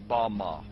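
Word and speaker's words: במה: pronounced Bama.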